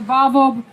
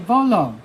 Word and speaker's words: Volo: But let me just say to Volvo for bringing Baltimore together just through the love of sports. We're, how you say it? Volo. Volo City.